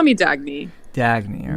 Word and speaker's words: Dagny: You can call me Dagny.